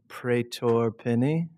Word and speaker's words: Pretor-Pinney: um uh we're we're pleased to welcome Gavin pror peny yeah said it right um the founder of